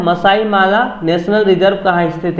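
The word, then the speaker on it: Malé: Question number 28 है माले किस देश की राजधानी है? मेल इसको नहीं पढ़ना है, माले होता है, ये स्पेलिंग गलत है यहाँ पे।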